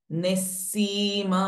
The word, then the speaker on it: निस्सीम: पंचकोषांतर स्थिता पंचकोषांतर हिता निस्सीम महिमा नित्य अगेन नी इज हैविंग विसर्ग आफ्टर वर्ड्स निस सीम एंड सी इज दीर्घ विसर्ग ह विल चेंज इट टू स निस्सीम महिमानित्य निस्सीम महिमानित्य